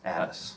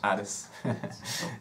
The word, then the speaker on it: Adès: Today we're going to be talking about Thomas Adès, right? Is that how you say it? Adès. Adès.